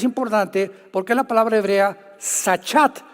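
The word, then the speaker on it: שחת: porque la palabra hebrea sachat se escribe con s Samuel y ch como suena sachat con té de tío al final y esta palabra significa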